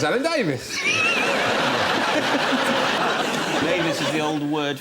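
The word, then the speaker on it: Alan Davies: Doesn't really rhyme with anything apart from Mavis. Unless you know someone called Mavis. Yes. It's Alan Davis.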